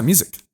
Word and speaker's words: Musick: cool so in house we have Mr music am i pronouncing your last name correctly I'm going ask you yeah music was an epic last name thank you bro